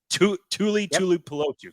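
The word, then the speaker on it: Tuli Tuipulotu: Tell me that I'm pronouncing this right, because I know this is our USC guy, Tui Pelotu. Tuli Pelotu, correct?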